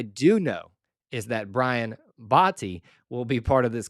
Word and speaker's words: Botti: Botti. Let me say it again, Botti. I believe I am finally getting that right. I pronounced it Batty. I pronounced it Bate, Bata. Botti is how it's pronounced.